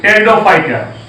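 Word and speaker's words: Pteridophyte: पी से spelling शुरू होगी, PTERO, टेरिडोफाइट।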